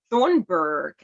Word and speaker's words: Thunberg: is Greta Thunberg, I think is how it is pronounced.